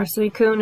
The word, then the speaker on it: Suicune: I tend to have to go for Suisune, or Suicune as a lot of people pronounce it, or Xerneas.